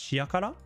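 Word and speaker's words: 塩辛: Oh, shiokara, but it's pronounced shiakara.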